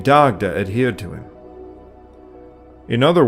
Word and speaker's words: Dagda: he is most commonly known as the dagda or Daga in modern Gaelic pronunciation medieval commentators generally believed